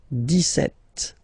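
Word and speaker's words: dix-sept: it's clear but then for the pronunciation deset okay so you don't insist on the des set det okay then so you will make this little link between the two the leaz Okay.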